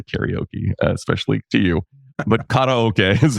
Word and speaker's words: karaoke: I can't say karaoke, especially to you, but karaoke is how it's pronounced, folks.